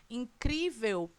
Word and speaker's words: incrível: Em incrível, qual é a sílaba tônica? O cri. Portanto, essa palavra é uma paroxítona, terminada em L. Portanto, recebe acento.